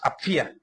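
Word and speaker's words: Ἀπφία: Dice y a la hermada hermana apia de hecho apia también está maltraducido porque en griego es apfia que en realidad se pronuncia como fai apfia jo Adelfe y la hermana Apia nada más.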